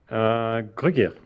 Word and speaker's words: Gruguir: Is that the correct pronunciation? Gruguir? Gruguir.